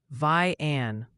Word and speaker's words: Vian: They're practically screaming it's vian Oklahoma. Apparently, it rhymes with Ryan.